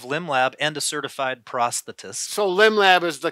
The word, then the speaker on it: prosthetist: So when I go to kindergarten classes, I usually try to, you know, take them through it by the syllable. So it's prosthetist.